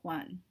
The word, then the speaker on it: Joan: and his name is Huan Mito I know it kind of looks like Joan but it's pronounced one so this is one